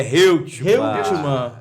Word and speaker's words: Reutemann: Qual a pronúncia correta? É Reutemann.